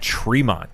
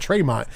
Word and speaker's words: Tremont: death match with matt tremont yes he said his last name wrong he said he's like i know i'm saying it wrong but matt traymont it's not true but yes he i